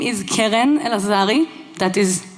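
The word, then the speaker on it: Keren Elazari: My name is Keren El-Lazari. That is how you pronounce it.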